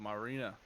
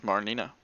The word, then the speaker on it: Marnina: I thought this continent was called Marina. It is Marnina.